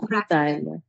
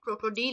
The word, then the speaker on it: Krokodile: ওকে লাইনে কাটছেন প্রাচ্ছেন কাইনা কাটছেন প্রাচ্ছেন ক্রোকোডাইল কাটছেন কাটছেন খাইনা লাইনে ক্রোকোডাইল লাইনে ক্রোকোডিল লাইনে ক্রোকোডিল ক্রোকোডাইলে হবে না কিন্তু আপু, আই তখন হয় যখন এ ই একসাথে থাকে। এখানে কি শুধু ই আছে, ক্রোকোডিলে।